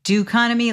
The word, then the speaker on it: Doconomy: Spell that do o like instead of economy doo economy like d o economy.